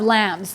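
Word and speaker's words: lame: I have lambs. These are the lambs I use. A lamb is the thing that you use to cut or score the bread. L-A-M-E, but pronounced like bah.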